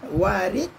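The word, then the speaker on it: وارد: Kena sebut betul-betullah. Ejaan pun berbeza. Ada huruf alif warid wirid wa ra dal.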